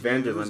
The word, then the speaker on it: Van der Linde: Van der Linde, that's how you pronounce it, guys.